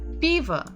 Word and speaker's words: пиво: And the final one is пиво. Пиво. If we will listen to the stress, пиво. Пиво. Пиво. The first letter is stressed, the first syllable is stressed.